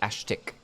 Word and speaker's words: Aztk: And his name is spelled Aztk, but is known as Ashtik.